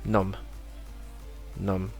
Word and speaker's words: numb: example the next one we do not pronounce the b in these words here all of them but they sound a little different so first one would just be num num and it's say my